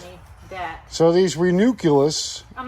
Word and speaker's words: Ranunculus: You called it binoculars before. Here it is. Ranunculus.